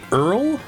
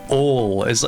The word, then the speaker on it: oil: My mom, she doesn't really say Earl, but she'll hit you with an ol. Ol is like the more common way that I hear it down here.